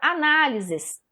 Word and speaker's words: análise: a na análise análise a sílaba tônica nessa palavra é a mais forte que é o nar se eu falar rapidinho vocês vão observar que o nylon vai ficar em destaque tá veja só análise análise análise analisar tem